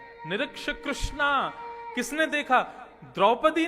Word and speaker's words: कृष्ण: इसीलिए कृष्ण शब्द का जो लोग कृष्णा उच्चारण करते हैं वे सावधान रहें, क्योंकि यदि मुक्ति मिलेगी तो वैकुंठ में द्रौपदी आपका स्वागत करेंगी। आइए, आपने मेरा खूब भजन किया। आप कहोगे द्रौपदी जी हमने आपका नहीं, हमने तो भगवान का किया था। बोले नहीं, आप हरे कृष्णा बोलते थे ना, कृष्णा तो मेरा नाम है, भगवान का नाम कृष्ण है।